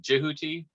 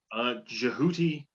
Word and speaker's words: Djehuty: me in our pre-talk you pronounce it jihuty tahuti and is jehuty your preferred uh way of approaching the name jihuty sounds better coming out of the mouth sure in conversation uh